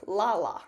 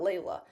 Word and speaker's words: Lala: Now, Tropical Storm Lala, I'm pretty sure that's actually how you say it, not Leila.